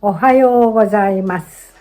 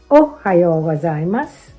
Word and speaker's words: Ohayo gozaimasu: Ohayo gozaimasu. Many beginners put stress on the first syllable o, but in natural Japanese, the second syllable ha is stressed.